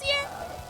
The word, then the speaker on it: Sierra: Like Syria Games. Syria? Like the country? Yeah, like SIERA. Sierra? Sierra? Is that how you pronounce it? Yes! Yes, Sierra Games.